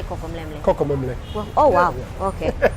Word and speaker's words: Kokomlemle: Kokomemle.